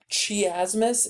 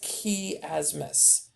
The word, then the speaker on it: chiasmus: in there okay noticing the word chiasmus is not how it's pronounced it's key asmus okay so those are